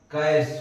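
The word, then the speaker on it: cache: तो ये जो कैश लिखा है कैसे, CH से तो क्या बन गया, लेकिन इसका प्रोनाउंसिएशन कैश होता है।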